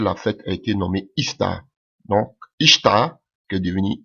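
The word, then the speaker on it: Ishtar: à voir avec Marie donc son nom ista dans les dialectes sémitique alléluia se prononce Istar que aujourd'hui qui est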